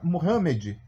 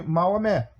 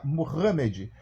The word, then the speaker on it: Mohamed: foi escrito pelo profeta Mohamed que aqui no Brasil nós chamamos é ruim Amém erroneamente O Profeta de Maomé né mas na realidade a pronúncia certa seria Mohamed O Profeta Mohamed segundo